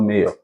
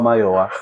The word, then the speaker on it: Mayowa: He said no, his name is not Mayor. His name is Olua Mayowa.